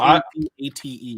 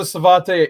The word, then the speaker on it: Savate: So S-A-V-A-T-E. Yeah, I just pronounced it Savate because it sounded cooler in my head.